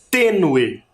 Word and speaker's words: tênue: Tênue. tênue. Também tem sílaba tônica e ela está demarcada por um acento.